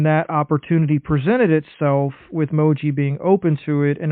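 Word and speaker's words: Mougey: reached out and just talked to, I think, Moji is how you say his name, the GM for the Jets.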